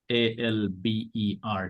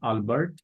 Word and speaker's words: Albert: pronounce it Alber not Albert because this name is not from from English language this name is from French language and my audience may